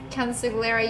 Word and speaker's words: consigliere: It's pronounced Consigliere, you uncultured swine.